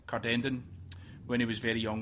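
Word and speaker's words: Cardenden: I couldn't really work out how to pronounce it, but it's Cardendon, when he was very young with his family.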